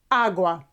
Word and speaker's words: agua: So we have la and agua with an accent or stress on this beginning syllable, on this first syllable, agua.